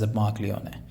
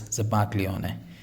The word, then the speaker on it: zabaglione: The pronunciation of this is zabaglione. So G is a little silent, and this is an Italian word, which is zabaglione.